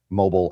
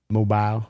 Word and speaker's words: Mobile: Mobile, Alabama. Mobile. Mobile. You just got to do a little Southern accent.